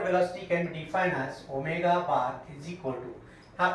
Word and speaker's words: omega: We pronounce this omega, not w.